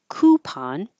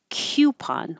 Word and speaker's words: coupon: or West Coast so you'll hear coup without the Y coupon or coupon with the Y Q coupon Horizon we don't say